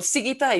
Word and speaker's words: Sigita: She comes from Lithuania, and I have to look for my notes to pronounce her name right. Well, Sigita is fine, and her last name is Kriaučiūnienė.